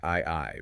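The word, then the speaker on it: 愛: And the text begins this proof by looking at the Japanese kanji for love, which is pronounced I I, right?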